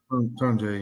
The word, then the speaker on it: Tonje: Tonje, yeah.